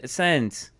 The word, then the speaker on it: Sandes: Ryan Sands. But you spell it Sandes.